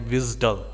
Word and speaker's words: WSDL: use by uddi and it is also pronounced as visual which is spelled out wsdl so visual is also called for that so these are the